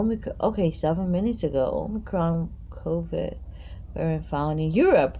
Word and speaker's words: omicron: last week in southern africa it's called the omnicron it is on the crime damn why you all got to pronounce everything differently quickly notified this what you